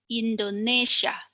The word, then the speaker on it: Indonesia: For the word Indonesia, the penultimate syllable is Indonesia. Indonesia.